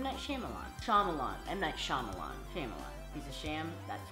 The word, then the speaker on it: Shyamalan: I also know that I say his name wrong. Shyamalan. M. Night Shyamalan.